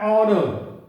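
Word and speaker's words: honour: है कि H silent, तो जब एच साइलेंट हो जाता है तो देखिए उस परिस्थिति में ए नहीं लगकर एन लगता है। जैसे एन आओ, N here, N हेयरनेस, एन ऑनर, an honest man, एन ऑनरेबल मैन।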